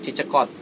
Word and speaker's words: Kierkegaard: lumayan familiar Ya kikat gimana tuh cara pengucapannya kierkegaard tapi zaman-zaman saya biasanya orang eh ngucapinnya itu cekot dari vegan ini dia merupakan